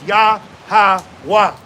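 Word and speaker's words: Yahweh: And how you pronounce that tetrogrammatin is yahwa.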